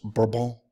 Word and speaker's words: Bourbon: Navarre is from the Bourbon family correctly pronounced verbal and he is a